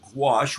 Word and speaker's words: gouache: I'm not going acrylic on you, but I'm going gouache, which I can't even spell it. It rhymes with squash, which I think it's sort of like painting with the insides of a pumpkin or squash.